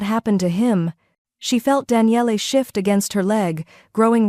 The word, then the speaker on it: Daniele: Daniele. He pronounced it carefully, all 3 syllables distinct.